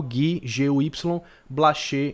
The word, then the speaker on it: Guy-Blaché: Emily e Alice guy-blaché Alice normal Gui Y blacher exatamente como é como é falado com acento no é no final certo então eu recomendo